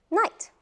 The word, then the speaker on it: night: other word GH like night let's see how night is spelled and I G h t here we do not pronounce the GH ghost ghs and night